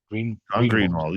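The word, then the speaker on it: Greenewald: Greenwald? Greenwald, yes, from the Black Vault.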